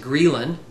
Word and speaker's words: ghrelin: with a hunger hormone that is gin g h re l i n or I like to pronounce it gelin is a hunger hormone